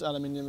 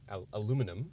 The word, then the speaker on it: aluminium: You've got the brushed aluminium, which is nice. Yeah, brushed aluminium. And also aluminum, that's how I say it. Okay. If you're uneducated. You spell it. You literally spell the word differently.